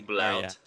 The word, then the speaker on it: Bluet: It is Blout, apparently. Blout. Yeah.